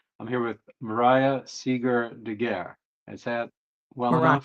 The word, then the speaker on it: Degeare: And how do you pronounce your last name? It's Moraya Seeger Degeare. Degeare.